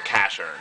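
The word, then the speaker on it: Casshern: we got uh Casher the game called it cashon but even they announcer pronounces it Casher from Shinzo ningan Kern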